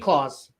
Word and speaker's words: Claus: Oh, JD says pronounce Claus. Thank you, JD. JD Claus, like Santy. Like Yeah. Santa Claus. Like Santa Claus.